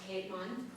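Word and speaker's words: Keetman: And Gunhild is just G-U-N-I-L-D, and her last name is Keitman, but in German it's pronounced Caitlin, so everybody says Caitlin.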